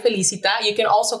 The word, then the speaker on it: Felicita: And you said it right, Felicita.